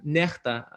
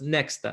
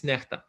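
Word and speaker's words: NEXTA: so the most popular channel that is called necta in belarusian that stands for something often mispronounced as next it's not next states necta so before the day of so-called elections it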